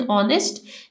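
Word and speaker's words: honest: की जाती for example H इन ऑनेस्ट जैसे कि ऑनेस्ट में एच साइलेंट है डब्लू इन रैप जैसे कि रैप में डब्लू साइलेंट है के इन नॉक नॉक में के साइलेंट है व पुट द आर्टिकल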